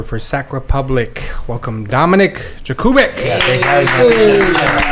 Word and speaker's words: Jakubek: So Jakubek, is that how you say it? Jakubek? You keep in English pronunciation is Jakubek. Polish it's Jakubek, but Jakubek is okay too.